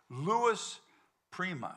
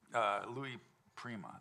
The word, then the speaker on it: Louis Prima: And I talked to Louis Prima.